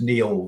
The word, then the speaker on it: Niall: Oh, and just to remind you, my name is actually spelt the Scots Gaelic way, pronounced, sorry, as Neil rather than the Irish way.